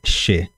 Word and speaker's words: che: você she significa eu a pronúncia é she che significa eu che quer